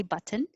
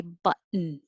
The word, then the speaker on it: button: like bear burial 25 we don't have to say those t's you can say button but most native speakers of american english will say button button button 26 those two t's